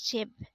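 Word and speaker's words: 집: term for chime next word is ship again it's pronounced as chip in this degree in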